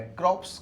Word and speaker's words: corps: क्रॉप्स, कॉप्स और कॉप्स। पहले तो देखो प्रोनाउंसिएशन, इसका बोलेंगे क्रॉप्स, इसे बोलेंगे कोर, CORPS।